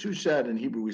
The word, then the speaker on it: Shuchat: my father rabbi wilfred we we pronounce it in english shushed in hebrew we say